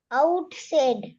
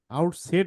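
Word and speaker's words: outside: Silent ই আছে। Silent ই থাকলে এখানে আই এর কি সাউন্ড হওয়ার কথা? Long sound. Long sound. তাহলে আই এর লং সাউন্ড হলে এটা কি হয়? সাইড। সাইড। আউটসাইড।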